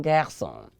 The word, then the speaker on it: garçon: And so this time our C has that snaky thing under it. And so we pronounce this as what? S. And so that is un garçon.